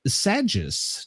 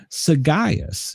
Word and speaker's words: sagacious: The word of the day is Sagius. Do you know what Sagius means, Brenda? No. I don't either. No, Sagaeus is how it's pronounced.